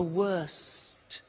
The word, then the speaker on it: worst: Notice the T. Bad, worse, the worst. Don't forget to pronounce the T.